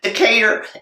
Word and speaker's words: Decatur: Atlanta and it's just oh that's how you pronounce that Lana down there yeah Decatur and they they actually approached me they got